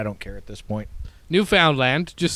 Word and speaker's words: Newfoundland: Newfoundland there you go but not lund land you got to really emphasize that newfound land it's it's literally how